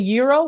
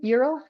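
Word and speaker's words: gyro: There's a Greek booth selling euro, that's how you pronounce it, euro. Euro yo euro for $6 and Vietnamese food are selling egg rolls for $2.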